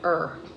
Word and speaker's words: Ur: That's pronounced Ur.